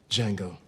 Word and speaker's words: Django: Django. Can you spell it? D J A N G O. The D is silent.